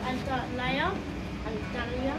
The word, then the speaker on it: Antalya: You can see like almost the heart of Antalya, that's how you pronounce it.